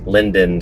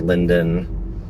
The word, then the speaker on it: Linden: We're going to take a left here at Linden Street, not Linder, but Linden.